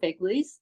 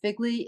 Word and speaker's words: FGLI: admissions alumni panel for Figley uh Figley is the pronunciation of the acronym first generation in college and lowincome students so